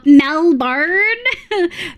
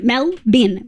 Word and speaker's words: Melbourne: Yeah, Americans pronouncing uh Melbourne. Melbourne. Melbin. Melbin.